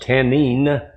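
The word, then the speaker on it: תנין: become a serpent now the word serpent there is Kenyan pronounced tanin and this Hebrew word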